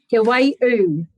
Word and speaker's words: Te Waiū: Did I pronounce it properly? Te Waiū.